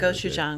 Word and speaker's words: gochujang: I mean, it's going to be gochujang, right?